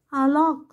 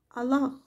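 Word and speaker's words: الله: После сдвоенного «ли», которое произносится твердо, здесь идет долгий гласный «а», который на письме не обозначается. Аллах, Бог, Аллах.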